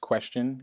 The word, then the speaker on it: QSTN: now of course so qscn pronounced question is a blockchain enabled